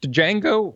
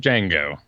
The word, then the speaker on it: Django: it do you say Django or is it django django the D is silent okay I think that's